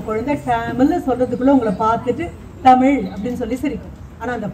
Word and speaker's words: தமிழ்: திருத்தமாக தாயும் தகப்பனும் உச்சரிக்கல அப்படின்னா குழந்தை டேமில் அப்படின்னு சொன்னா திருத்தி தமிழ் அப்படின்னு நீங்க சொல்லலைன்னா அது மறுபடியும் டேமில் அப்படின்னு சொல்லும். மறுபடியும் தமிழ்னு சொல்லணும்.